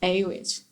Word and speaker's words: Awich: and then and then just took a w i c h and just pronounced it a which and i told that